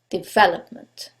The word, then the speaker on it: development: the last syllable development in this case is the second syllable development now you couldn't know